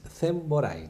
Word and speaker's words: Semboray: No lo pronuncié bien, es Semboray, ¿no es cierto? Semboray, bien lo digo.